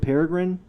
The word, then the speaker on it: Peregrine: Isn't it Peregrine? Perigine.